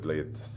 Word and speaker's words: Bled: And the city of Bled, I think it's got about 5,000 people, 15,000